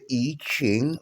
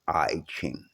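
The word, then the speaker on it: I Ching: It's not pronounced IQing, but we Americans, we do what the hell we want to do.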